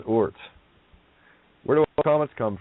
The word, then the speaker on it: Oort: Take the double out and take the half out, and you got Oort. Word becomes Oort.